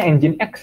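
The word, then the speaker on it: nginx: nge-rap server kemudian engine.exe ini bacanya engine.exe Ya bukan Jing Anda like ini bukan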